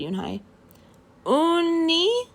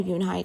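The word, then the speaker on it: Unhei: girl asked yunhai said hai uni the girl asked scrunching up her face some kids chanted no no yoon hai corrected it's spelled u-n-h-e-i it's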